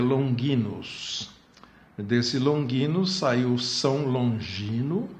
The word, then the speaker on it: Longinus: Na pronúncia mais correta, em latim, seria Longinus.